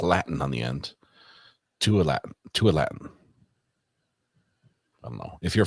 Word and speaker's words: Tualatin: Tualatin? Tualatin. I feel like Ryan Holiday trying to pronounce towns and just gets made fun of. Someone says wrong. All right, Red Pen says Tualatin.